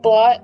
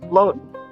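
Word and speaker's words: blót: papa bear and Kelly wrong I've been pronouncing it blot I I just learned that I've been pronouncing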